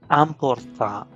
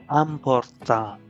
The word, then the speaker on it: important: And important would be important, important, important. Why important? Because in French, IN and IM are pronounced as ah, ah, ah.